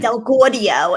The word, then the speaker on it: Del Gaudio: Because we want to say it New York. And if you say it New York, no, that's the proper way. It's Del Gaudio if you want to say it.